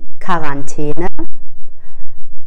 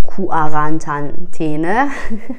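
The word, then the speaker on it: Quarantäne: کو. کو مثل دی کارانتینه. کارانتینه نمیگیم کو آرانتینه. چی گفتم؟ نمیگیم کو آرانتینه و همینطور نمیگیم کوانرانتینه. اوی خدا، میگیم کارانتینه.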